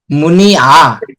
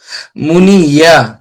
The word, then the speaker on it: منية: منية মুনি আ, منية আইন সবসময় আ উচ্চারণ হয়, ইয়াতে ইয়া ইয়া এখানে ইয়া হলে হতো মুনি ইয়া। আপনারটা কিছু ইয়ার মতো শোনা গেছে, ইয়া হবে না, মুনি আ।